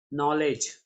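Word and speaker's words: knowledge: नॉलेज, शुरुआत के से है, लेकिन के यहाँ पर साइलेंट होता है।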